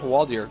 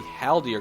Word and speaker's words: Haldir: His Hawaldir is in the back here, attempting, or not Hawaldir, gosh, I've been saying it wrong the whole time, but it is going to be Haldir, guys, excuse me, as I do sometimes mix up those names.